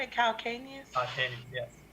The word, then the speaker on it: calcaneus: Calcaneus? Calcaneus, yes, calcaneus.